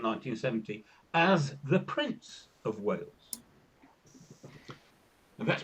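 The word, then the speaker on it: Wałęsa: But just ask San about Lech Walesa. Yeah. Because there's no N in Walesa, but you say it.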